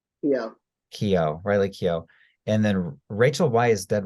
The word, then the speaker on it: Keough: Okay, Jessica Chastain at number one, followed by Ali Wong, Elizabeth Olsen, Emily Blunt, Riley, how do you pronounce her name? Yeah. Riley Keough.